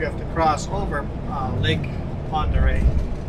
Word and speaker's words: Ponderay: If you Google Ponderay, you're not going to be able to get the spelling right. It's not phonetical. It's basically, it's a French name that has been butchered over the years.